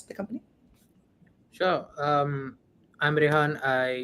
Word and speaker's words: Rehan: I'm Rehan. You can pronounce it as Rehan or maybe if that's what you prefer.